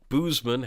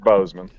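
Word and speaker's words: Boozman: speaking of uh intoxicants boozeman has uh clinched the Arkansas senate seat oh I'm going with boozeman though because it's more fun I know but you pronounce it Bozeman well just a whole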